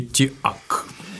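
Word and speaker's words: TEAC: По фамилии Тиак. Есть он, такой, оказывается, да, так хороший. Читается, да. Тиак. Хороший, да. Без обмана. Я его назвал Тик все время. Видите, да. Он так и читается, да. Но Тик – это, получится, да. Клещ, который тебя кусает, а поэтому нет, у японцев не так.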